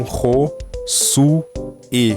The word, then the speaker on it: Josué: Meu próprio nome muda a pronúncia. Meu nome é Josué, então todas as letras aqui mudam basicamente, exceto o O e o U. Então, Ro, Su, E, Rosue.